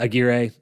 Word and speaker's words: Aguirre: uh Alan McGuire uh Aguirre I never know how to pronounce the last name I believe it's giray yeah Alan gear right